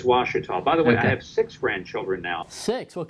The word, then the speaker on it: Ouachita: look like that it's it's an Indian name and it's pronounced Washita but it's spelled owe you a CH ITA and when people just